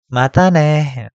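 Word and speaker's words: またね: Janeh, atau juga bisa menggunakan matane, bukan matane ya, matane, sampai ketemu lagi.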